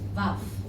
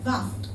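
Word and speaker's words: ו: And it's called valve. Bacanya valve.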